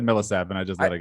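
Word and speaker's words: Millsap: where it's you know 107 year old paul millesapp who can't milsapp can't play anymore so i could say it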